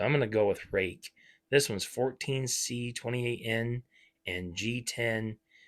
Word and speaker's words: Ruike: Looks like Ruike, but I've heard it's pronounced as Rake. So I'm going to go with Rake.